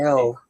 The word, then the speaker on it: Elle: What I'm saying is you Her chose it first because name is that pronounced Fanning L, like the letter Yep, L.